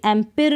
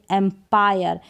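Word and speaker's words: umpire: नहीं पढ़ेंगे इसको डिजायर अब इसको भी एम्पीयर नहीं पढ़ेंगे अंपायर इसको भी एक्सपेरिमेंट करके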